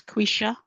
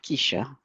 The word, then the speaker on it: Quisha: It's Quisha and not Keisha.